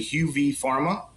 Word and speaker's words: Huvepharma: is a little tricky a lot of people mispronounce it but it's actually uv pharma so it's the first two letters of the